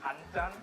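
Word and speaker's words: 된장: We call it danjan. All right, slow that down. I want to pronounce that.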